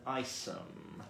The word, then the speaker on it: Isham: Maxine says Bruce Green pronounces it Isham. Isham. You. Well, I would say that was a definitive source.